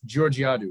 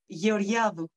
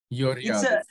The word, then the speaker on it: Georgiadou: Oh, first, your name is pronounced Georgiadou, right?